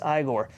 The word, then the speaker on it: Igor: syndrome going on here it's pronounced igor folks igor so again this eye little